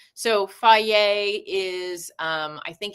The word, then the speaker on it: Fage: So, I like FA, which is the F A G- Fage, but it's pronounced apparently FA.